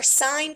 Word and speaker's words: sine: So anyways, the way you pronounce these, this is sine. Everyone say sine out loud to themselves. Sine. Even when you abbreviate it, it's still called sine. Never, ever, ever say sin.